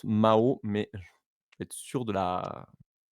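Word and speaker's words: Mahau: lespelé parce que euh ça se prononce Mao mais être sûr de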